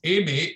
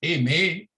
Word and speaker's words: Aimé: I noticed you were struggling with the pronunciation, so it's Aimé, A-I-M-E, with an accent to the end, and an accent to the end is, in French, is pronounced A, so it's Aimé and Césaire.